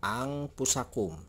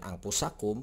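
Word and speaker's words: أنفسكم: Nun ini, nah ini nun ini adalah nun mati, ya, atau nun sukun. Maka nun ini tidak akan dibaca dengan jelas, akan disamarkan atau disembunyikan. Nah, jadi huruf nun ini akan dibaca menjadi eng. Jadi cara membacanya adalah ang pusakum.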